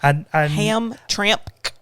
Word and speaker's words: Hamtramck: Hamtramck.